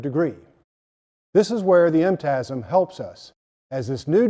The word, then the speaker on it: MTASM: technology and applied sciences management MTM pronounced MTM but why a new